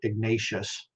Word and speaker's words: Ignatius: spanish way ignatius not ignatius but you know r-a-e-o-u if you understand the spanish uh vowel pronunciation that's why i say it that way ignatius um but he